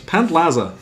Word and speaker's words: Pantlaza: So, Paplansa Pant Pantlaza, that's how he's pronounced.